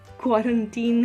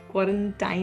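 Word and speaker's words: quarantine: और हाँ, last but नॉट the least, क्वारंटीन है, क्वारंटाइन नहीं है। इट्स not like वैलेंटाइन, इट्स क्वारंटीन।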